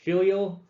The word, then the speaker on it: filial: i really struggled with filial it's kind of like fee leo filial um and it just